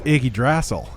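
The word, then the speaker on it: Yggdrasil: superhero stuff so i don't know how to pronounce it oh night wolves oh it's iggy drassel okay cool got it yeah that's like his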